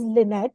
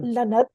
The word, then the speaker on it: Lynette: And then by the way, her name is Lynette, it's not Lanat, which is kind of like suspect kind of pronunciation.